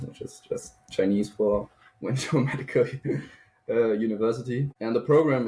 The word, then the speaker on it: Wenzhou: Sorry, I don't know how to pronounce the Chinese university. Maybe you can help out with that one. And it's called Wenzhou Medical University, or if you want the full Chinese name, they would say Wenzhou Ike, which is just Chinese for Wenzhou Medical